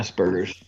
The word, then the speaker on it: Asperger's: Yeah, Asperger's.